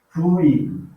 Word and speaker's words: fluido: Como, por exemplo, fluido. Né? Fluido, tá? Eu tenho aqui duas sílabas, flui e o do.